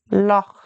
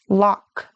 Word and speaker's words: Loch: to the English word Loch. You might be tempted pronounce it like a K, lock. But it's softer like loch.